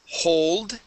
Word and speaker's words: hold: Okay, let's try the word hold. Okay, and let's see here. Okay, hold. Make sure to get that L there as well, and we're going to pronounce an O sound.